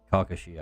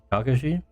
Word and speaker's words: Kakashi: I like it it'll be kind of like kakushi eyes kakushi Kakashi from Naruto oh Kakashi I like pronunciation what H that's jarah oh he's right